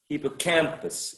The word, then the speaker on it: hippocampus: four right um and the stress should go on which of these four syllables which is the most prominent the primary stress the third one the third one okay excellent hippocampus exactly hippocampus so before the third